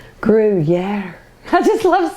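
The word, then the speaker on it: Gruyère: I really had to look up how to pronounce this cheese that this recipe calls for, and they said Gruyere, Gruyere, Gruyere.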